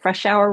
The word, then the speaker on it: Fresh Hour: I'm Fresh Hour, and Fresh Hour rhymes with rush hour, just so everybody's got that.